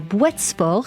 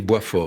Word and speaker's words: Boitsfort: 27 mai 1961 à Boitsfort, si c'est bien comme ça que ça se prononce, et vous pouvez me corriger évidemment. On ne dit pas le S, on dit Boisfort.